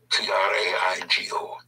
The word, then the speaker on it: traigo: To attract, to pull in, to bring, traer, T-R-A-E-R, traer, which is also a Google verb, traigo, T-R-A-I-G-O, traigo.